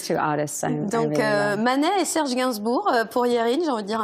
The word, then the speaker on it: Serge Gainsbourg: Is that how you pronounce it? Serge Gainsbourg.